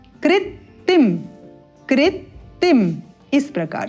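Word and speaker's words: कृत्तिं: तो गणर व्याघ्र कृतिम यहां पर हम लिख देते हैं इसको कृतिम यहां पर एक त है और यह अतिरिक्त आधा त कृतिम कृतिम इस प्रकार से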